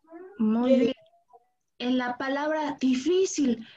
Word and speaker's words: difícil: En la palabra difícil, recuerden que la palabra difícil lleva acento en esta I. Difícil. Vamos a pronunciar la palabra difícil.